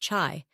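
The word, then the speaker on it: chay: For vegetarians, chi, pronounced chai, is your magic word.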